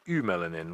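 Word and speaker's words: eumelanin: females also have it you also get a pigment called ew melanin which is spelled EU and then melanin which is a brown pigment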